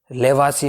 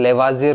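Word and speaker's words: Lavoisier: तो कई बार लेवासी को इंग्लिश में पूछे तो लेवाजियर हो जाता है, क्योंकि हिंदी एंड इंग्लिश में क्या है, जब प्रोनाउंसिएशन की बात होती है थोड़ा सा डिफरेंट होता है ना। तो ये ध्यान रखें, लेवासी है, लेवाजिए या लेवाजियर, कुछ भी हो ना, दोनों सही है ना।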